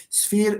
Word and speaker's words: sphere: Sphere and sphinx. Sumia, menkish. Because sphere, s, and then f, and then you have a vowel. Don't think that because it's written with ph.